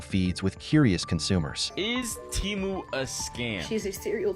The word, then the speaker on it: Temu: they're freaking gaslighting you the name of the company is teu not temu I'm going to be